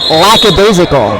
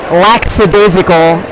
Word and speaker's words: lackadaisical: you suggest then because so many people mispronounce the word lackadaisical they say la casa de circle and that's not a word really I hear that